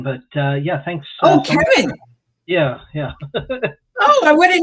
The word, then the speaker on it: Cevin: So a lot of people aren't familiar with the hard C there, but I appreciate you